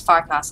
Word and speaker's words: Farkas: Oh, Farkas, are you okay?